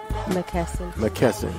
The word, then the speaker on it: McKesson: Why you pronounce his last name, Queen? McKesson.